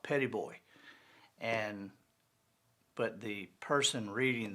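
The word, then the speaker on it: Petit Bois: is the island is uh locally it's called petty boy and but the person reading the book pronounced it petite boi and they passed the island of petite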